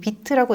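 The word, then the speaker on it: Vite: VIT, 비트라고 읽는데요. 이제 프랑스어로 빠르다라는 뜻이라고 합니다.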